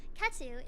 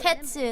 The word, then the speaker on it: Ketu: Katu is up next. Before you go though, I don't know if you Ketu. That's how you say her name.